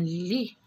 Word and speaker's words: lit: est tête et le thé je ne le prononce pas versée c'est un lit le lit la nuit lorsqu'on veut dormir on